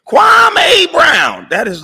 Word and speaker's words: Kwame: It's Kwame.